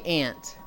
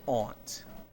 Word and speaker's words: aunt: thing in the US I say ant but I think there are some places in the US where they would pronounce it Aunt a little piece of